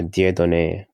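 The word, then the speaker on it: Dieudonné: say your first name my first name is uh dear donee it's a french name much people cannot pronounce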